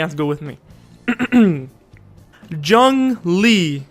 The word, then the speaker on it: Zhongli: to go with me zhang li yes not zangli like i was saying